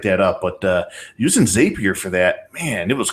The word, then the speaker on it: Zapier: up but uh using zapier for that man it was cool it was so easy yeah and remember the pronunciation zapier zapier zapier they call it zapier zapier zappier makes you happier zapier makes you happier